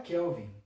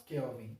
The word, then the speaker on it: Kelvin: aquela e a escala Kelvin eu não falei graus kelven escala Kelvin em então a escala querem